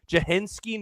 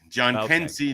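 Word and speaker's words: Jhonkensy: Is it Jahensky Noel? Is that how it's pronounced? Did I get it? John Kensey Noel.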